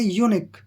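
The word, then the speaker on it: eunuch: इसको पढ़ेंगे यूनिक यूनिक कैसे ई यू से बनता है हमारा ठीक है ना य की आवाज आएगी य को हम पढ़ेंगे य और एन से हमारा बन गया न ठीक है ना और सीच से बन गया हमारा क क ई यू से बना हमारा यू और एन से न और सी एच से क और यू जो है यहां पर साइलेंट रहेगा तो यह बनेगा यक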